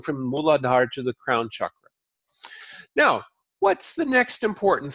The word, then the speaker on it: chakra: who use it I'm gonna go get my chakras aligned no they're not chakras their chakras chakra yes that's how it's pronounced so this is a very interesting connection